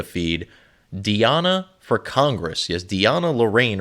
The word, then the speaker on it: DeAnna Lorraine: diana for congress yes diana lorraine or deanna lorraine on how she pronounces it she's running for congress